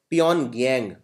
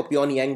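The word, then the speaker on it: 평양: North Korea की राजधानी है प्योनगयांग। इसमें वैसे जी साइलेंट होता है तो प्योनयांग बोलते हैं।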